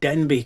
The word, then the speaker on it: Denbigh: So if you read Denbigh now, D-E-N-B-I-G-H, which in those days sounded like ch, you will see that Denbigh, pronounced the way they would have spoken it in those days, would have sounded like Denbych, which is not a